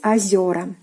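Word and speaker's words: озёра: So the stress was on the first vowel O, озеро, but now it is on the second vowel Е, and Е, when it is stressed, it turns into Ё.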